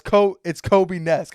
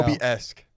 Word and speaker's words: Kobe-esque: Is that how you say it, Kobe-nesque? I don't think so. He is the living embodiment of Kobe Bryant right now. Kobe-esque. Yes, Kobe.